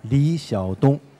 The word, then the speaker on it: Li Xiaodong: category, and the winner is Liyuan Library by Li Xiaodong Atelier. So did I get it even remotely right, the pronunciation? Yeah, Li Xiaodong, that's the name in Chinese, and Liyuan Library.